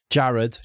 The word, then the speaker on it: Jared: Jared, J pronounced like an H.